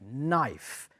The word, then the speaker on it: knife: knife Cuchillo a knife be very careful because Cuccia has a silent K yes it's a silent K knife and also the plural